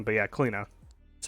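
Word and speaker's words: Cliodhna: a pronunciation of the character's name but yeah kalina that's how you pronounce it um increase the tick rate uh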